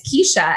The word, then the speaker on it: Kesha: say my like I was calling her Kessa and it's Kesha and I'm like I'm